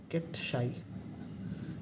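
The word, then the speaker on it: ket psi: ये है, इसको हम कहते हैं, प्रोनाउंस करते हैं कैट शाई।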